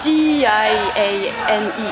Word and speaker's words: Diane: 아, D-I-A-N-E. Like Diane. D. 아, 죄송합니다. 제가 영어를 한국에서 배워가지고 네. 이게 발음이 정말 D.